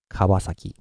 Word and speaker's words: Kawasaki: And what you should learn now is always make the volume intensity flat. And you should put every syllable, you should put them together very continuously. Don't put any gaps between them, like Kawasaki, okay? Just go flat and continuously Kawasaki.